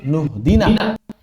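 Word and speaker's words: اهدنا: Dari sisi tajwidnya, kalau dia diwasal, cara bacanya langsung nuhdina. Iyyaka na'budu wa iyyaka nasta'in ihdina. Oh, kenapa dibacanya nuhdina? Karena di sini hamzah wasal. Hamzah wasal itu tidak dibaca. Hamzah wasal itu tidak dibaca ketika berada di tengah kata.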